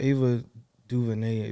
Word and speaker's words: Ava DuVernay: through a few hours but yeah shout out ava duvernay that's how you say her name like she